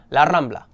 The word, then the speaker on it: La Rambla: mega classic mega famous La Rambla or you know, actual pronunciation La Rambla.